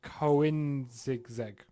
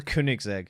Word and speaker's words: Koenigsegg: The fastest car in the world now, I'm sorry about butchered, it's a Swedish name, is the Koenigsegg. No, the Koenigsegg. Koenigsegg, that's it, Yeah.